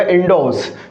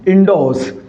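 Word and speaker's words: endorse: मैंने आपको क्या कहा कि ये जो वर्ड है ना, इसके अंदर ये आर है, ये क्या है? साइलेंट है साथियों।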